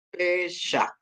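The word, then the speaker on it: פֶּסַח: Ini ada samek dikasih patah, bacanya sa, terus akhirannya het ya. Jadi dia dibaca pesah.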